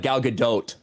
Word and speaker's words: Gal Gadot: american i think you do actually say the t it's not like uh like dough like a cookie dough it's like gal gadot yes i believe that's